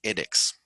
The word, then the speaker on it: edX: Ed de educación, ED, y una X, edX. ¿Vale?